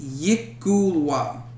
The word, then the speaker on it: Yklwa: YKLWA. Pronounced Yikulwa.